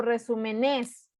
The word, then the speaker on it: resúmenes: Resúmenes es una sílaba esdrújula porque digo resúmenes, no digo resúmenes, ni digo resúmenes, ni digo resúmenes, digo resúmenes. Entonces es esdrújula, es como América, es como acuático, es como brújula.